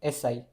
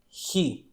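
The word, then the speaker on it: し: It is not pronounced pronounced as si. It is not pronounced as C. It is actually pronounced as S hi she.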